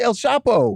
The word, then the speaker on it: El Chapo: that's how we got his name is actually el chapo i don't know how people started mispronouncing it i don't know what